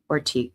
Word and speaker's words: Ortega: But in English, particularly standard US English, we would typically pronounce it R. So ORTEGA, Ortega.